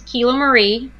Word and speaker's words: Kiloie: Make sure I get name pronunciations exactly right before we jump in here. So my first name is Kiloie, and last name is.